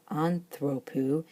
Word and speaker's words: ἀνθρώπου: But if we change the ending of the word to make it of a human being, anthropou, it no longer likes to have that acute as far back as the antepenult, and it kind of pulls it to over the omega in the middle to the penult, the second to last syllable.